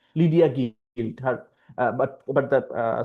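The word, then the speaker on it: Gwilt: devious schemes of Lydia guild or guild probably it's just a it's just a play on words it's actually pronounced guilt Lydia guilt her but but the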